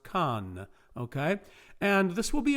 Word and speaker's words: can: case of conus the stem is c-a-n pronounced khan okay and this will